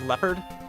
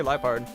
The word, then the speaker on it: Liepard: You don't pronounce it as leopard? Leopard? No, I say Liepard. I think it's supposed to be lie, because it's like lie.